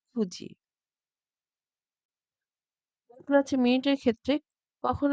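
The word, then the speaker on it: 九時: ইয়ন ইয়নকে আমরা বলছি ইয়োজি, শিচিকে বলছি শিচিজি, নানা বলা যাবে না এবং কিউজি বলা যাবে না, বলতে হবে কুজি।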